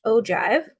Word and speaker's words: ogive: I know it looks like ogive, but it is pronounced ogive, okay?